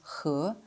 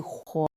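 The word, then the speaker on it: 和: nuǎn huo Normally, the character hé is pronounced hé, meaning and. For example, wǒ hé nǐ you and me But in the word for warm, it completely changes its pronunciation to huo and loses its tone.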